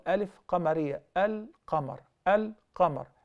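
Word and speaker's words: القمر: Al-qamar. Al-qamar. Al-shams, we don't pronounce the lam. Al-qamar, we do pronounce.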